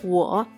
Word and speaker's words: 我: Primero es yo, se pronuncia 我. Lee conmigo cada vocal. U, O, con tercer tono, 我.